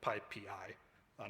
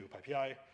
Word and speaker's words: PyPI: I want to do a quick background on Pipi and it's rolling python ecosystem so first of all pipei is pronounced uh well one of the Emojis didn't render but Pi Pi not Pi Pi it's the primary packaging next